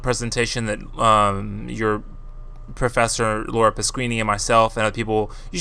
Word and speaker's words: Pasquini: And her name is pronounced Pasquini if you've already forgotten.